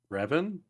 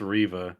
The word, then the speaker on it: Reva: will when Revit gets added to the game Revan no Reva Riva Arriva Riva is that all you said her name say her name her name is Riva okay yeah Riva sure just because I remember